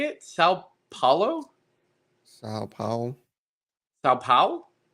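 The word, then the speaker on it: São Paulo: It's like kind of between you're my pal and Powell. Like Colin Powell?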